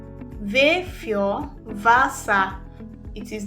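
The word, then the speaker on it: Wasser: W in German is pronounced as V. It has V sound. V sound. So it is pronounced as v. Vure vasa. Vure vasa. It is not pronounced as wasa.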